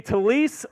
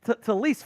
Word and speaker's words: Taliese: It's going to be Taliese Fuaga out of Oregon State to the New Orleans Saints.